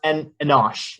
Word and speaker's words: Enosh: I'm so sorry, I think it's pronounced Enosh, or Enosh, sorry, Enosh, not Enosh.